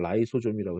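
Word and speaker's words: lysosome: 자, 그래서 64페이지 오른쪽 단에 맨 아래 두 줄, 진한 것이 리소좀, 영어 발음 라이소좀이라고 했습니다.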